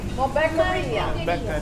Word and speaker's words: Malbequeria: how do you say the word Malbequeria? Malbequeria. Like a cafeteria.